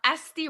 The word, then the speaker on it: ST: I'm ST, like the letters S and T, just saying the letters ST together.